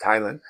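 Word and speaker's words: ptyalin: When they develop mers, then they also develop what's called a uh Thailin spelled with P Thailin, but it's pronounced Thailand.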